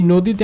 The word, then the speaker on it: নদী: তাহলে অবশ্যই এই নদীটা উচ্চারণ করার সময় অবশ্যই আমাকে বলতে হবে নদী, অর্থাৎ এই অয়ের উচ্চারণটা তখন আর অ থাকবে না, তখন কি হয়ে যাবে? ও হয়ে যাবে, তখন কি হয়ে যাবে? ও হয়ে যাবে। নো, নদী, নট নদী, নদী না, নদী।